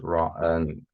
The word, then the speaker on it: rua: I can write, so horse is Ra, RUA, and I have here number 3.